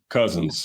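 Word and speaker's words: Cousens: What is your favorite gym to play in besides uh how do you pronounce the toughs gym? Cousins.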